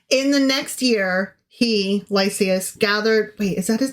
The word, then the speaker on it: Lysias: In the next year, Lysias, gathered... Wait, is that his name? Lysias? Did I say it right? Yeah, Lysias.